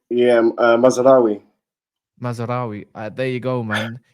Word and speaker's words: Mazraoui: know you're Moroccan is it uh M yeah mazeri mazeri there you go man to be honest